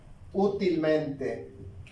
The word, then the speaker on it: útilmente: Tenemos la palabra útilmente. Si el acento estuviera en la última sílaba, sería aguda. Aquí, en la penúltima, sería grave. En esta parte sería la antepenúltima, sería esdrújula. Lo lleva antes de la antepenúltima, es una palabra sobresdrújula.